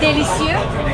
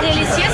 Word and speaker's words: délicieux: Delicieux. Delicieux? Delicieux. C'est très délicieux. Oh, it sounds like a delicious.